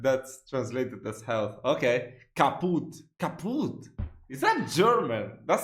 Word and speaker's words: kaput: We spell it with 2 T's in Germany, but we pronounce it the same way, kaput.